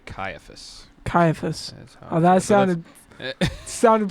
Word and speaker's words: Caiaphas: Elijah would know how to pronounce some of these words. I would say Caiaphas.